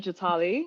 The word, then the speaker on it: Jatali: Did I pronounce that right? The first name was good, Jatali.